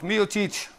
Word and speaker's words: Miocic: Leo, hoe bespreek je het uit, Leo? Ja, die deed het goed. Miocic. Is goed, Miocic.